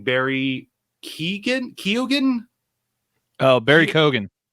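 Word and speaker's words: Keoghan: last name Barry Keegan kogan oh Barry kogan kogan is that's how you pronounce this kogan I think you don't pronounce the E if I remember correctly okay because I know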